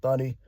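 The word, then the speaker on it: Thuney: You got Joe Tony. I keep saying his name wrong. Thunny from the Chiefs.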